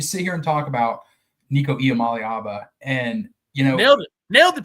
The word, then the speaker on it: Nico Iamaleava: You sit here and talk about Nico Iamaleava, and nailed the pronunciation there.